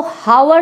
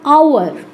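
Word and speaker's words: hour: इसको जब आप पढ़ेंगे तो हावर नहीं पढ़ेंगे, क्या पढ़ना पड़ेगा इसको आपको, एच साइलेंट होता है, आपको पढ़ना पड़ेगा आवर, आवर, थोड़ा पढ़ना भी आपको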